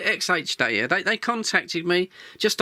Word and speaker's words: XHDATA: xh data xh data we call it xh data they they contacted me